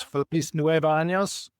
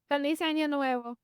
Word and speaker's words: Feliz Año Nuevo: So how do you say this? Feliz Nueva Años? Feliz Año Nuevo.